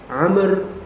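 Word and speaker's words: عمرو: telah mengabarkan kepada kami Amr Bin Ali jadi bacanya itu Amr bukan Umar Kenapa karena ada huruf wau setelah huruf ro kalau misalnya Umar bacanya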